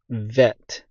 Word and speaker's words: ב: making the e sound when the BET doesn't have a dot in the middle of it then it's vet in modern Hebrew then we have the